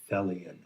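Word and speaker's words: Thelion: put on the badge that says fellian t-h-e-l-i-o-n and it rhymes with helian and it must be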